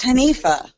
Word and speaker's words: Hanifa: how do you say your name it is hanifa Hanifah where does what's the origin for that